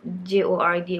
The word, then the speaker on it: Jord: I know it's spelled J-O-R-D, but it's actually pronounced Jord.